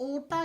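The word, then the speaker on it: aorta: महाधमनी का नाम होता है ओटा या अयोटा। अब आर तो यहां पे प्रोनाउंसिएशन के समय साइलेंट हो जाता है।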